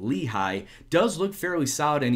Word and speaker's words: Lehigh: But Eric Lehigh, and yes, that is how you pronounce that name, Lehigh, does look fairly solid, and he's more than likely going to be my starting right back.